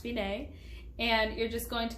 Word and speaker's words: fine: see the word finae it's spelled fine it's pronounced finae and you're just going to go all the